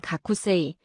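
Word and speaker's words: 学生: 학생이라는 한자는 가쿠세이, 선생은 센세이로 읽습니다.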